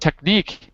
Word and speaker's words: technique: The word technique, it's on the second syllable.